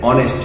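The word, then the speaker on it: honest: হি ইজ অ্যান অনেস্ট ম্যান, এখানেও silent H, এই ক্ষেত্রে ভাওয়েল না হওয়া সত্ত্বেও এইচ কিন্তু ভাওয়েল না, বাট সাইলেন্ট এইচ এর পূর্বে এন বসবে।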